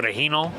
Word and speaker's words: Regino: my middle name is Regino uh it's really pronounced for the Hino right it's after one of my grandfathers or grandfathers uh but it's spelled Regino okay and for a